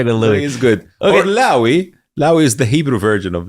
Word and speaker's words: Loay: but when it comes in when we converse Loui it's like so you can call me Louie okay I said in the US so many